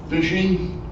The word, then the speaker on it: phishing: We're going to talk about phishing, email fraud, some current scams, passwords issues, and protection of public sites. Phishing, I know it's spelled with a P, but think photo, is basically the art